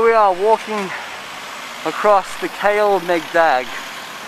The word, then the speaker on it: Kalemegdan: are walking across the kale meg bag how you say it well as they say kale like mags and megan and dag tell the dog fortress yes it's the